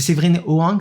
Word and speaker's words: Séverine Hoang: C'est Séverine Hoang, c'est ça? C'est comme ça qu'on prononce? Oui, tout à fait.